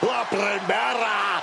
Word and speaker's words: La Primera: La Primera, Stephanie McCare. You need to roll your R's a little bit on that, man. La Primera.